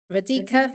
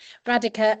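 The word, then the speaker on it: Radhika: We're going to start um with a shared experience and um a really warm welcome to Radika. Radica, sorry I asked when you've got the wrong pronunciation in your head. Radica um who is one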